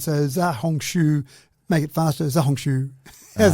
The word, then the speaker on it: Xiaohongshu: So, and I still reckon that X becomes a bit of a Z sound. So Xiaohongshu, make it faster, Xiaohongshu.